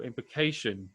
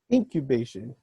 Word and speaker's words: Incubation: So how do you become a drummer for Cerebral Implication? That's going to be the first question. Incubation. Okay, my pronunciation is not I think you fantastic.